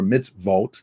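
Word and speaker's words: מצוות: the Ten Commandments or mitz vault that's how you say it in Hebrew plural on the ark's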